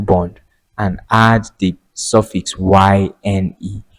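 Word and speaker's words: -yne: and add the suffix yne. Yne is pronounced as "ine".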